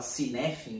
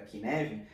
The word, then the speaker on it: Cynefin: Eu falava Kinevin, né? E aí eu vim entender que era Kinevin.